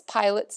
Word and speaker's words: Pilate: But you pronounce Pilate's name the same way that you would pronounce a pilot.